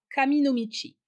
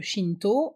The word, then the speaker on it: 神道: Le terme s'écrivait comme aujourd'hui, mais se prononçait kami no michi. C'est la prononciation japonaise, alors que Shinto est la prononciation d'origine chinoise.